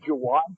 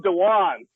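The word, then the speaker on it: Jawaan: I think it's Jawan Taylor. What'd I call him? You called him Dewan.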